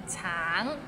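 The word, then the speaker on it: 橙: all right let's start tang it's it means orange but some people might find it difficult because the end has a little energy so it's a bit of nasal sound tang tang nonsex time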